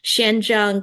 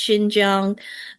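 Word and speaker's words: Xinjiang: So it's like Shenzhang, but I'm like, "No, it's Shinj Jang."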